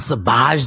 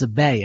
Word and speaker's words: Sabaj: He says, it's not Sabaj. The J is silent. It's Sabay.